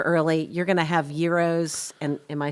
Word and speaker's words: gyros: You're going to have gyros, and am I saying it correctly?